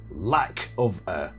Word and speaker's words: Lackofa: much older than me his chosen name was lack of he pronounced it lack of I think it was